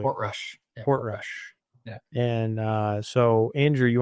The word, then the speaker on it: Portrush: So this year we have Royal Portrush, if I'm pronouncing that correctly. Portrush. Yeah, Portrush.